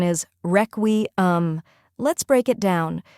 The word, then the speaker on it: Requiem: the correct pronunciation is reum let's break it down first we have wre which sounds like the word wreck next is we which